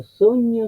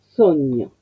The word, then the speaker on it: sogno: Entonces, acento, mío, sogno. ¿Qué tengo aquí? Primero, sogno, veo que la primera sílaba es la que tiene indicado el acento.